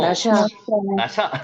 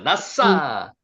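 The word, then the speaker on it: נסע: 나샤 나싸 여기 싸시 발음나거든요. 요렇게 나싸 자 다시 한번 해 보세요.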